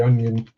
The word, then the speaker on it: onion: You get the onion.